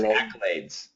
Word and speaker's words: accolades: accolades ultimate accolades perfect keep that s accolades accolades yep it's a z that's right yep yeah